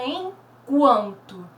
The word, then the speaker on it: enquanto: Eu tenho aqui a palavra enquanto. Quando pronunciamos o enquanto, percebemos bem a letrinha U sendo pronunciada.